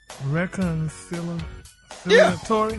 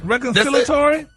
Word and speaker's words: reconciliatory: Reconiliatory. Reconciliatory. Reconciliatory. You missed one syllable.